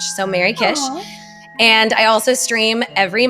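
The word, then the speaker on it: Merrykish: Instagram, Blue Sky, uh, under my name, but it's spelled M E R R Y K I S H. So, Mary Kish.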